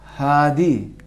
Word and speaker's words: ہادی: حامد، ہادی. ہادی. ہادی میں 2 چشمہ جو ہائے 2 چشمہ ہے اس میں حلق میں آواز پھنسے گی، فشار آئے گا، آواز کے اوپر پریشر آئے گا.